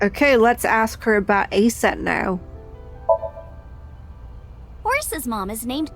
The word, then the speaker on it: Aset: Let's ask her about Aset. Now, Horus's mom is named Isis, but in ancient Egyptian, it's pronounced closer to Isa or Aset.